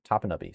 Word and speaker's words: Topinabee: It says say it fast, and it's pronounced Topinabee or Topinabee. E-N-U-H. Topanubby. Say it fast.